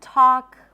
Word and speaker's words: talk: The L is also not pronounced in walk and talk.